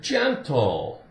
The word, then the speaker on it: gentle: But, G with E after it, like the word gentle, gentle.